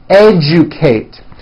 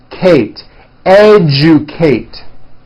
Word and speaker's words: educate: Digest rejoice objective Majesty educate that has also an unusual pronunciation let me break it down for you Kate educate next one suggestion this one's